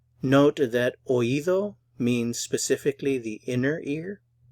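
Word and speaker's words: oído: hurt s note that oivo means specifically the inner ear and for pronunciation the O and the I are pronounced in separate syllables and their stress on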